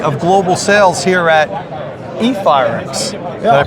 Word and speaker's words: eFireX: He's the VP of Global Sales here at eFireX. Did I pronounce that Yeah, right? eFireX.